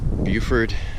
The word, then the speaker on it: Beaufort: around a little bit I made it to Buford think room South Carolina they call it Beaufort it's spelled to go